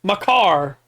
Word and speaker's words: Makar: Yeah, and you say it like somebody stole your car. Makar.